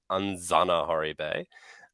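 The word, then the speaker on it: Anjanaharibe: the anzanahari basude so in malagasy the J is pronounced as we pronounce as Zed so it's a anzana hori bay um and the answer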